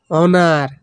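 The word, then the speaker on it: honour: মানে সহজ এইচ ও এন ও ইউ আর অনার অনার মানে সম্মান অনার মানে সম্মান এখানে এস এর উচ্চারণ হবে না হ্যাঁ এস এর উচ্চারণ হবে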